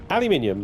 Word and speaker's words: aluminium: Aluminium, like uranium, thorium, gallium, magnesium, lithium, beryllium, tellurium,